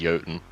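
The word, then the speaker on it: Jotun: I'm pretty sure it the J is not silent. Am I wrong on that? But I'm pronouncing it as the Norse giant, which is Yoten.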